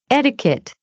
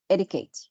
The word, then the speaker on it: etiquette: I'll not say etiquette. I need it. I need this flap T. Etiquette.